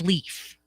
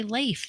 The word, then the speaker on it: Leif: like you're thinking grammar I'm thinking it's Leaf that's that's what I'm thinking and that's what I've always called him but I have to say Leif that's how that's how you say it you say it Leif Garrett but he never he